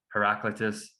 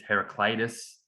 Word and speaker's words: Heraclitus: just to prove it it's not heraclitus it's heraclitus it's just me being